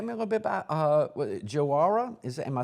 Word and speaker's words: Joara: But just tell me a little bit about Joara. Am I saying it correctly? Yeah, Joara.